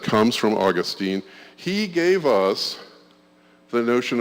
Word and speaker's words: Augustine: it is to Augustine the Brits for some reason love to emphasize the second syllable on any Greek word really think